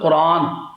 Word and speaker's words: قرآن: نام تو آخر رکھا ہے نا۔ دوسری بات، اس کا تلفظ ہے قرآن۔ قرآن مشتق ہے قرانہ